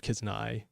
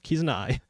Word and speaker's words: Kizuna: And again, I knew of Kizuna. Yeah, why do I always pronounce it weird? Kizuna.